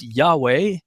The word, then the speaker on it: Yahweh: tetragramaton the yod V of course in the King James Bible it's rendered as Jehovah some say well there's no J so it should be yahovah and others say well there's no V either so it should be yahovah others say no it's Yahweh and I have settled on yahua I was sort of